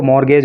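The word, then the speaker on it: mortgage: रहा है ना तो ये टी यहां पर साइलेंट रहता है इसको मॉर्गेज बोलते हैं एंड हैड मॉर्गेज हिज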